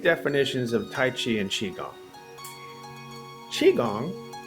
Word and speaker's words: qigong: of tai chi and qigong qigong or pronounced uh chi gong q-i g-o-n-g chi kung